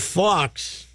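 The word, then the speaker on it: faux: So I think I have Fox. What? Fox. F-A-U-X. Like the animal. F-A-U-X, Fox. Faw. You don't pronounce the X, you're rural.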